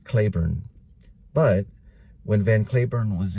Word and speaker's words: Cliburn: oh I just found out his name is pronounced Harvey leavon van curn sorry about that nope it's pronounced Clayburn but when van Clayburn was in Arlington at